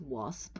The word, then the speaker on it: WASP: The pronunciation is WASP, right?